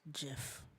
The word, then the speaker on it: GIF: uh the gif creator it's pronounced jiff like peanut butter oh like the jiffy